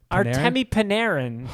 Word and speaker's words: Artemi Panarin: How did you just pronounce his name? Artemi Panarin? Artemi Panarin.